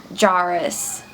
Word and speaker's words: gyrus: the right inferior temporal jarrus that's what youtube told me was the pronunciation it's g-y-r-u-s so hopefully i got that one right too so to summarize why